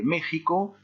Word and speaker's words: México: En dehors de ça, en dehors des noms propres au Mexique, le X se prononce X, donc petite particularité.